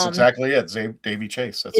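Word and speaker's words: Daveigh Chase: Dave Davey Chase.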